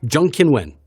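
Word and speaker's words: Zheng Qinwen: they're a Chinese national, it's the last name first. Exactly. Surname first. So, so I'm going to say Jean Kiwen. Jungkinwin. That's it. Jung Kinwin. That's That's pretty good.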